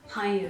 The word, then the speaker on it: 漢語: Hanyu. 漢語 is Han is the same kanji with kan. Ah, right. Is a language. Ah, okay, sensei. So this is the Chinese pronunciation.